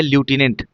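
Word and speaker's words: Lieutenant: तो अगर पूछा जाए लूटिनेंट की स्पेलिंग क्या होती है? तो क्या बोलेंगे? एल आई ई यू टी। ठीक है? लटिनेंट एन ए एन टी।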